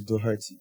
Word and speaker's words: Doherty: And the correct pronunciation is Doherty.